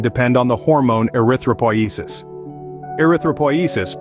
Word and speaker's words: erythropoiesis: Erythropoiesis, pronounced erythropoi, is your body's process of making red blood cells, erythrocytes.